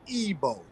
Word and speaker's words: Igbo: But that I has an E sound, so it's Igbo.